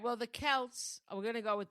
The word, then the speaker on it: Celts: It's ridiculous because the Kelts, Am I saying it right? Kelts or Celts? I think so. No, I think it's Kelts. Okay. Yeah, because it's Celtic.